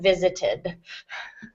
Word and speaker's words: visited: for the ED, and in this case it is an additional syllable, so it will be had visited.